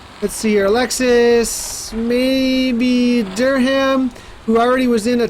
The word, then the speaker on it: Durham: beats per minute though absolutely Durham Durham is pronounced Durham thank you Duncan Thorp I appreciate that produced